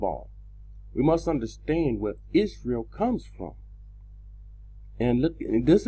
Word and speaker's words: Israel: Is real. And this is not the correct pronunciation. The E and the A has been changed.